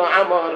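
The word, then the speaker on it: عمرو: না, আসল নাম হলো আমর, আইন মিম র ওয়াও। রয়ের পরে যদি ওয়াও আসে তা আমর শব্দ উচ্চারণ করতে হয়, আর যদি ওয়াও না থাকে ওমর বলতে হয়।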